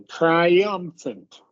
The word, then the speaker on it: triumphant: But you want to emphasize the third syllable. Triumphant.